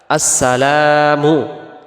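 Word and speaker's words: السلام: আসেন দ্বিতীয়টা আসসালামু আলাইকা আসসালামু এখানে লামের পরে যে আলিফটা আছে এটাকে এক আলিফ টান দিতে হবে আমরা যদি এক আলিফ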